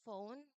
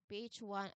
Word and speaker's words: phone: So, p h makes one f sound as mentioned here in the explanation. p h one makes one f sound. Again, this is a common digraph where two letters represent a single sound. And the final e is silent. It is part of the spelling, but it is not part of the sound.